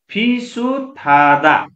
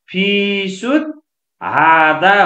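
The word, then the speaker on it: 비슷하다: किनभने यो यति स्पेस हुन्थ्यो भने, ल यहाँ हेर्नु त, यति स्पेस हुन्थ्यो भने यहाँ फिसुत हादा हुन्थ्यो हो, तर यहाँ ह र स यसरी सँगै छ, स र ह ठोकिँदा सको उच्चारण थ हुने भयो, ह चाहिँ साइलेन्ट हुने भयो।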